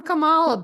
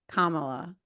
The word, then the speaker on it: Kamala: witch B I'm I'm Kamala oh well listen but uh I just said it wrong again Kamala my fault I I